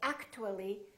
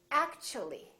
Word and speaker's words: actually: a u for example in the word actually we don't say actu we don't say actually the t becomes kind of a c ch sound so we say actually actually so the t and u create a new sound and it sounds kind of like ch let's try a few